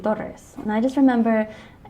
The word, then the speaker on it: Torres: my last name correctly I didn't grow up pronouncing my last name correctly how I say tortoise but it's supposed to be daughters and I just remember